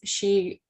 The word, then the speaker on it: SHI: So, and I love that you use the Spanish pronunciation of our acronym of SHI and call us she.